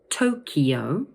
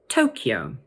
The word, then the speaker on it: Tokyo: So the sound in the middle of the word is slightly different, but the stress is always on the first syllable. So let's say them both again. Tokyo or Tokyo.